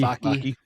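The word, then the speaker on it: Vaki: Vaky. Vaky.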